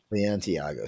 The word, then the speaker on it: Balenciaga: Balenciaga.